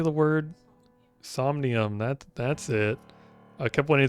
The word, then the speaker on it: Somnium: Somnium. That's it. I kept wanting to say Somnium or something.